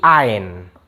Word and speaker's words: ein: Ini bacanya bukan ein, tapi ein.